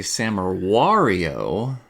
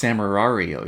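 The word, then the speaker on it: Samurai Wario: you say it it's samurario you gotta make sure that you hit the two r's you have to hit the two r's so it's nice sam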